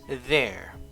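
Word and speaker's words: they're: there and there so these three words the contraction and the other two are all pronounced the same way there there and there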